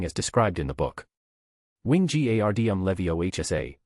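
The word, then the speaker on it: Wingardium Leviosa: Wing gardm levio hsa with the g being long and pronounced.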